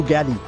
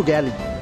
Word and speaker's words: Gilly: বলতাম লিভ ইট টু গ্যালি। গিলিকে Aussie উচ্চারণে অনেকেই গালি ভেবে ভুল করতেন।